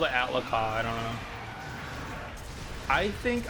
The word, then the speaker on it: Ahtal-Ka: There's Ahtal-Ka which is like it's spelled like it's pronounced Ahtal-Ka I think. I always called it Ahtal-Ka.